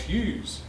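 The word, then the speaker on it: Hewes: And you might all, does anybody here know who George Robert Twelves Hughes was? Hughes is spelled H-E-W-E-S.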